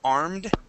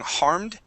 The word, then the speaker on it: arm: one last word uh you had added an H to the beginning of the word armed saying harmed harmed okay yeah so be careful with your with your I I heard it a little bit on on one of the words the word was up okay uh every once in a while you add an H to pronounce uh um uh words that start with vowels okay um so this